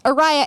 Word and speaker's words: Ariah: people aria hand because it's Araya and my name has a silent h but then but it's